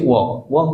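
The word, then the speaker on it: walk: second word T होची वॉक माने चालिबा एल होची डब्ल्यू ए एल के बट एल टा साइलेंट रहला तो डब्ल्यू ए एल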